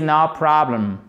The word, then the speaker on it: notable: a aucun problème 06 notable fable accent tonique sur la première syllabe on en profite un